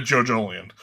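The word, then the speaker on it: Jojolion: The Jojolian? Am I pronouncing that right?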